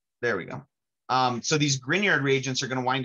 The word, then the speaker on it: Grignard: to pronounce this it's grignard like like lasagna i don't know if grignard is an italian name but you pronounce it like it's an italian name um with that gn